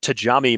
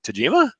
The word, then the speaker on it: Tajima: were started up is people cannot pronounce the Japanese names of most machinists yes I I cannot tell you how many people have said I got one of those tatami machines I'm like Tajima ok I think I